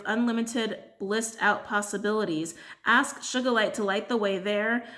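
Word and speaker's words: sugilite: just feel so unruly I think it's sugar light is how you say this one but that's how it's spelled sugar light or soca light I'm gonna say should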